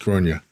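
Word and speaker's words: Gráinne: I know Porik's daughter is called Gronia. And you wouldn't tell, by the way, she writes her name, that it is pronounced Gronia.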